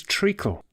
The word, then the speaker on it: treacle: It's not blood, it's treacle. Treacle. Now, that rhymes with ventricle.